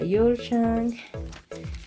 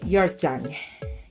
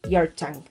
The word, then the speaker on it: Ulzzang: Una chica Yulchang. Y bueno, es Yorchang. Perdón, ya busqué cómo se pronuncia, es Yorchang.